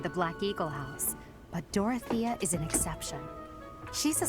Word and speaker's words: Dorothea: i've heard okay so you can actually pronounce it dorothea i've been saying i've just been saying dorothy this whole time adjacent allies recover at